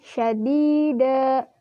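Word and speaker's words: شَدِيدًا: Hukumnya mad asli atau mad tabi'i karena huruf dal berharkat kasroh bertemu ya sukun dan setelahnya tidak bertemu hamzah sukun waqaf ataupun tasydid. Cara membacanya panjang 2 harokat.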